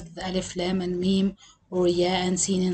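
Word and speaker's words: الم: The hint to pronounce these surahs or these letters is to pronounce them as you are spelling the letters of the alphabet with saying the name of each letter separately. So I won't read this word as Alam, because normally we use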